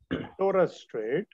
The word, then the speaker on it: Torres Strait: Number 7, the pronunciation Torres Strait. And number 8 is Bass Strait. Pronounce with me.